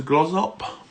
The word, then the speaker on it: Glossop: edge has gone to grows up is how you pronounce a Glossop it's a bit where's